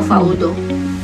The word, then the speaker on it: Faudo: Faudo, paano yung pronunciation? F-A-U-D o Faudo? O Faudo?